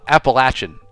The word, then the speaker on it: Appalachian: Appalachian uh Appalachin is the way the locals say it.